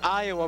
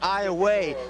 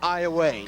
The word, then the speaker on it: Iowa: but it's actually pronounced Iowa. Now it's spelled the same way as Iowa, but it is pronounced Iowa. Correct. Spelled I O W A, but pronounced like you said, like far away, Iowa.